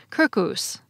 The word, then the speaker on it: circus: In Latin, it shows up as circus, or as it would have been pronounced in classical Latin, circus.